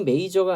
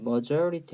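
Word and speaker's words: majority: 줘 뭐 저항이 있기 발음이 메이저가 아니라 머저리 t 라고 해서 메이저 라는게 뭐죠 여러분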